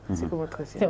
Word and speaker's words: psychomotricien: démb si guddi maa ngi jàng ni ñuy prononcer psychomotricien. noonu la psychomotricien voilà di en même temps donc interne des